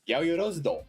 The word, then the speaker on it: Yaoyorozudo: Yaoyorozudo. You actually got it really, pretty much, maybe not the perfect, like, Japanese pronunciation. I mean, your pronunciation was good.